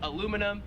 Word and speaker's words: aluminum: put over food and what aluminium not we would call it in america aluminum here in australia it is aluminium 10 is the i'm